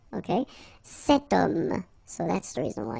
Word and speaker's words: homme: Remember, H is not pronounced, okay? So you get the sound of O at the beginning of this word, okay? Cet homme.